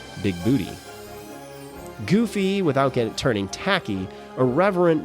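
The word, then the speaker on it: Bigbooté: And then there's Christopher Lloyd's John Big Booty, running around correcting everyone that his name is pronounced Big Booty, not Big Booty.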